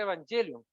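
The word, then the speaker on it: εὐαγγέλιον: Ministerio del señor evangelio es una palabra griega que suena muy similar evangelio que se pronuncia evangelion que significa El Triunfo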